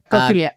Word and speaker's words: Kautilya: Um you explained the the the Indian philosopher Kautilya, if I would pronounce that correctly. Kautilya, yeah.